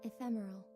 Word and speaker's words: ephemeral: I can't pronounce this. Ephemeral.